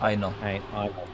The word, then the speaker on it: Aino: Aino, oh, is it Ino or Aino? How would I pronounce it? Aino. Aino. Very good.